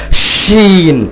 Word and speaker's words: শিন: হয় যারা মাখরাজ বুঝে শিন যখন উচ্চারণ করা হয় তখন উচ্চারণটা মানুষের এই দাঁতের আর জিহবা যখন স্পর্শ করে এই ছোট ছোট ছিদ্র দিয়ে এর উচ্চারণটা বের হয়ে আসে শিন ছড়িয়ে ছিটিয়ে যায় তো আল্লাহ অক্ষর এই